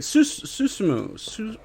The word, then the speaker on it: Susumu: Susumu.